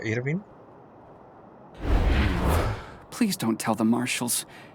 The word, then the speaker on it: Irwin: Entonces se pronuncia Irvin.